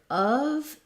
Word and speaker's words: of: sound accurately and then your of is another vowel and a v sound so the word